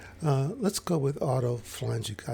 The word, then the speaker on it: autophagy: The reason this is important is because there's something called autophagy or autophagy, depending on how you want to break up the syllables. Let's go with autophagy.